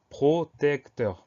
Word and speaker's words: protecteur: son E de protecteur, puisque ce E là, il est suivi de deux consonnes, le C et le T.